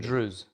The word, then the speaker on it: Druze: How's, so by the way, like correct way to say it? Druze. Druze. Yeah, not Druze.